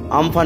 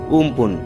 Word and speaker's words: আমফান: দেখাবে আর কি, সাইক্লোনটি আমফান নামে বা উমপুন যেটা আমরা বলছিলাম কালকে, যে লোকাল উচ্চারণ যেহেতু থাইল্যান্ডের নামকরণ করেছে তার উচ্চারণটা হবে উমপুন।